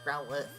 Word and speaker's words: Growlithe: Some people pronounce it as Growlithe, but it's Growlithe. People really mispronounce Pokemon names.